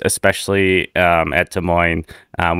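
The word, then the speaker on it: Des Moines: of names especially at T Moine um which the S is silent as Ron Kumer tells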